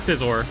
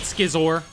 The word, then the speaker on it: Scizor: Scizor is Scizor. It's not Skiisor. I'm not calling it Skiizor.